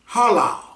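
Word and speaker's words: הלל: it's pronounced halal and it means to make a show to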